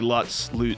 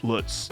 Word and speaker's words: Lutz: you can call me Lutz, Lutz. It doesn't. It's none of the above will offend me.